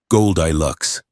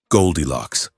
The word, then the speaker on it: Goldilocks: Goldilocks. No, Sarai said, a tiny, almost invisible smile touching her pale lips. The human stress is on the first syllable. Goldilocks like the metal.